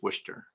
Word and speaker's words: Worcester: It's spelled Worcester, but I think it's Worcester. That's the way they say it.